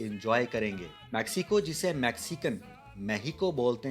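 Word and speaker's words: México: वैसे तो ये नाम सिर्फ किताबी ही है, क्योंकि इस मुल्क के रहने वाले भी अपने मुल्क को मेहिको के नाम से ही पुकारते हैं, क्योंकि स्पेनिश में एक्स को एच प्रोनाउंस किया जाता है, इसलिए यहाँ के रहने वाले इसे मेहिको कहते हैं।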